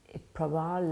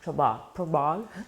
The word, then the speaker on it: Prabal: He say like trouble, yeah. Prabal like trouble, Prabal.